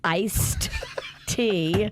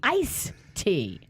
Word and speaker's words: iced tea: can I help you I think the correct pronunciation would be iced tea but I say ice tea can't play my game